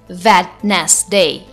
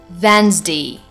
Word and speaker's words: Wednesday: Next word is Wednesday. It's not Wednesday, but it's Wednesday.